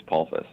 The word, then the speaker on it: Polsfuss: I do okay yep the first s is silent it is pulpas okay and where are